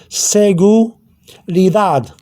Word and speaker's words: seguridad: Okay, so that D gets a slight TH sound afterwards. So it's D, TH. So you have seguridad.